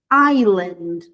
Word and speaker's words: island: Island. Esse s não é pronunciado.